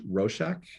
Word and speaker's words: Roshak: Roshak, did I say it right? Here, Roshak, yep.